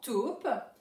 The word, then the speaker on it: taupe: Alors attention, dans taupe, il y a un E muet à la fin pour faire chanter le P.